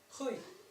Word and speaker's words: Rui: Why is it pronounced in Portuguese? Rui.